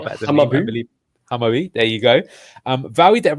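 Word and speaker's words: Hammarby: He's currently playing for, Duck can probably pronounce the club far better than me, I believe. Hamabi, there you go.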